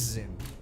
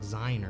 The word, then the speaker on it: ZYN: It is Zin. God damn. I really thought it was like Zine or something. I guess it's Zin.